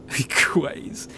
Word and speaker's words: Quay: And she said, "Like Victoria Quays." And she put it at a signpost for Victoria Keys, you know, like keys, Quays. Apparently that's just not an American word. Quays.